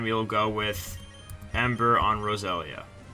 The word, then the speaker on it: Roselia: We go with Steel Wing on Graveler, and we'll go with Ember on Roselia. Or what I used to pronounce, Rosalia, because I didn't know how to pronounce things when I was younger.